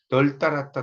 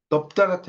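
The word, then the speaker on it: 널따랗다: 널 따랐다, 널찍하다. 이때는 넙 따랐다 이렇게 안 하죠.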